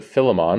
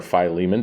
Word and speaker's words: Philemon: the Gospels in the letter to Philemon or Philemon depending how you pronounce it it seems as though